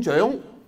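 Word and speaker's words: 張: “Zhang” a common surname The correct pronounciation is Zoeng zo—e—ng Zoeng The surname “Chang”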